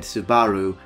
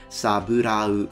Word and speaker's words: saburau: He literally said Subaru and it's instead Saburau.